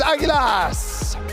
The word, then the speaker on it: Águilas: And a team that I now know how to pronounce their name, from the Philippines is Águilas.